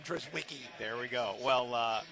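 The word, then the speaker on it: Drizwicke: That's how it's spelled phonetically. And that's what I will call him. Dris Wiki.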